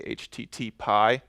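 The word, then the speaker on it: HTTPie: I'm not sure how they want you to pronounce it. I say HTTPy because I like pie.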